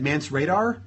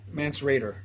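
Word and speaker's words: Mance Rayder: Mance Radar? No. Mance Raider.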